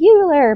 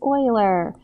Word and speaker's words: Euler: Everybody calls it, not everybody, but you'll hear people say Euler, but it's not, it's Euler. Like the defunct football team from 1,000 years ago.